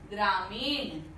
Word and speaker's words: ग्रामीण: ग्रामीण। शब्द क्या होता है? ग्रामीण। न नहीं, मूर्धन्य ण, अण, अण का उच्चारण कर रहे हैं, ग्रामीण, तो लिखना भी चाहिए ग्रामीण।